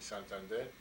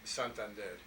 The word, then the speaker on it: Santander: My parents are Spaniards from the north of Spain in Santander, and he was a stonecutter, and that's what he did in Detroit.